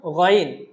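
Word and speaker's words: غين: গইন হরফটা উচ্চারণ হবে খ হরফটা যে জায়গা থেকে উচ্চারণ হয়েছিল সেই জায়গা থেকে, অর্থাৎ কণ্ঠনালীর উপরিভাগ থেকে। কণ্ঠনালীর উপরিভাগ থেকে আমরা বলেছিলাম খ, খ। ঠিক একই জায়গা থেকে উচ্চারণ হবে গইন। বলুন আমার সাথে, গইন।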